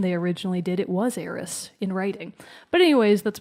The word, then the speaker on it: Aerith: I've always called her Eris. Aeris. Some people call her Aerith with a TH. I think that odd. sounds stupid. So I say Eris.